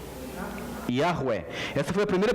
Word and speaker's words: Yahweh: Aí ficou Yahweh. Yahweh. Essa foi a primeira pronúncia que surgiu para o nome de Deus, depois que os antigos hebreus pararam de pronunciar.